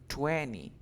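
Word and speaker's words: twenty: the reason is because when you have anti-vowel sound you don't pronounce the t so you say only 20 okay you got the one 20.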